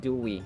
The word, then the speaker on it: Dewey: know George Dey and By the way it's Dewey not dewi for American pronunciation Dey Do you know